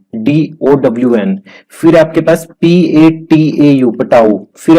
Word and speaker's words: Patau: फिर आपके पास PATAU, पटाऊ।